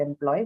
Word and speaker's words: employee: the basic uh the the original stress in the word employee which is on the second syllable this also one information